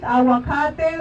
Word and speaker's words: aguacate: All the food that you eat, aguacate, avocado, now they call it, don't call it avocado. If you cannot pronounce it, learn.